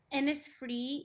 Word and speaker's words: Innisfree: Is it Innisfree? Is that how we pronounce it? Innisfree, yep, I Yes.